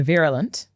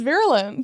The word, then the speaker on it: virulent: me too many stories about the ver the virolent. V virolent. Wait, how how do you spell it? V I R U L. Wow, new words, guys. Virulent.